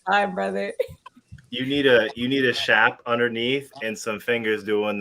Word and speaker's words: Shap: But you all should check out Summer's shop, but it's pronounced shop, but it's spelled S-H-A-P. Well, And it's pronounced shap.